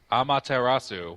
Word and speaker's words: Amaterasu: A marasu or something amatarasu well you it's Japanese so you pronounce every syllable yeah I you got